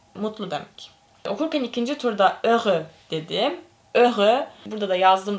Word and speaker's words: heureux: Okurken ikinci turda heureux dedim. Heureux. Burada da yazdım zaten. Görüyorsunuz. Heureux diye okunuyor. H okunmadığı için falan bir değişik.